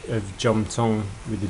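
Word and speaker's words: Jomthong: can um follow the River from here to J Tong um you might you might find it funny that I pronounce the uh SE h of J Tong with a J but that's how it is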